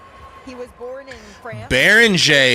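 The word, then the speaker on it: Beringer: Baron is how you say it.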